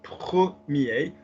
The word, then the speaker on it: premier: They're just words that are commonly mispronounced, like, because commonly what happens is premier, as we've just seen, or dernier, or petit, and it's not. It's premier, première, dernier, dernière, petit, petite.